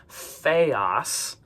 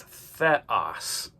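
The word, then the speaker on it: θεός: Epsilon makes an e sound, not an a sound. So a lot of times students will say theos. But notice it's not an ada. It's not that long a sound. It's an e. So it's theos.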